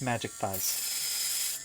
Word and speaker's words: mjikthize: Ah yes, my name is pronounced Magic Thighs.